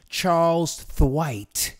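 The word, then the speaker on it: Charles Tyrwhitt: some people say and this is actually someone from the UK that pronounces it this way Charles the white so how do you pronounce it well I've actually been to Charles a tear it on German Street in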